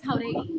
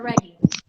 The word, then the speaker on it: Jauregui: By the way, my last name is Jauregui or Reggie.